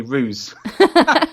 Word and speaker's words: Ruzz: say Z out there so for a while people will call me ruse which is fine it's it's still right it's still right yeah just pronounced differently yeah well then the